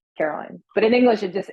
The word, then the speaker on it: Caroline: so i don't know is it caroline or carolyn honestly i don't care caroline oh all right and it doesn't matter to you so there is no doesn't matter i mean technically i think if we pronounce it the way it's written it would be caroline like it's a line yeah okay but you